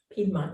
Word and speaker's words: Piedmont: in the Piedmont neighborhood, did I say it right? Ann? Piedmont, yes.